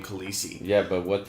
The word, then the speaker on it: Khaleesi: Khaleesi sounds cool like Khaleesi rhymes with easy oh no that's not